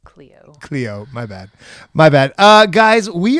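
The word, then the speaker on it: Chloé: Everybody calls her just Chloe. I don't know. All right. I don't know. It's French. Not important right now. Chloe 9 to 5. It's a good movie, right? It's pronounced Cleo.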